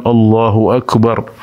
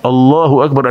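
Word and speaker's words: الله أكبر: yang penting ada Mad karena Allah itu memang orang Arab membacanya allahuakbar ada Mad Thobi'i nya disitu ya Allahu akbar jadi saat lemnya kita membaca lem ini maka harus ada Mad yang mungkin sebagian Imam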